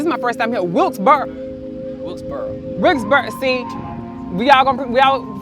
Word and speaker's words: Wilkes-Barre: Wilkes-Barre. See, we all pronounce it differently.